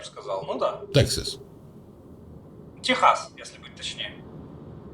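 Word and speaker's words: Texas: сказал Ну да Тексас Техас если быть Точнее А как по-английски звучит по-английски звучит Тексас Да но вообще оригинально Техас Ну потому что от испанского Угу оригинально Техас если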